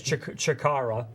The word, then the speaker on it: Chikara: It rhymes with Ikara. Actually, it does. That's pretty good. I didn't think you could pull that off. Right. So, yes, Chikara.